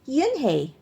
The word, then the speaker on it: Unhei: It's pronounced Yhi.